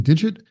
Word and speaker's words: d1g1t: And by the way, Digit is spelled D1G1T, in case you are wondering or you're unfamiliar with the firm.